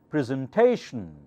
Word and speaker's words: presentation: with the primary accent presentation so remember anytime you see tion the syllable before that should be the loudest should take the primary accent presentation okay those are